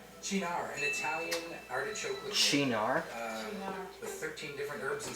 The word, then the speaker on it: Cynar: It's not Sinar. I'm pretty sure it's Chinar.